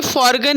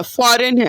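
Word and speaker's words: foreign: एक मिनट बाबू, एक मिनट, ये फॉरगन नहीं है, फॉरेन है। जैसे जैसे जैसे वर्ड बोलते हैं ना, फॉरेन आओ यानी तुरंत आओ, वैसे इसका प्रोनाउंसिएशन है, फॉरेन।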